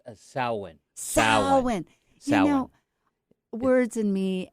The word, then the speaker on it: Samhain: Samhain. You know, words and me and pronunciation is right from my beginning.